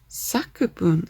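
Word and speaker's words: 作文: Sakubun, that's what that is.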